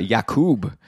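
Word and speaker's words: Jakub: Sunday versus Winnipeg um also yakob Verana or apparently it's yakub I saw a tweet recently saying how yakub Verana really liked it when this the announcer pronounced his name correctly so I'll try to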